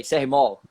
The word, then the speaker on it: CR Mall: Sei, CR Mall. Que pronuncia? Mall de shopping, CR Mall.